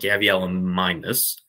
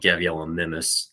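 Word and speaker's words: Gavialimimus: carpet which is called Gabriella minus Brennan masks because I for like three years I called it Gabriella nimus and yeah that's that's no it's supposed to be pronounced like Suchomimus I heard the person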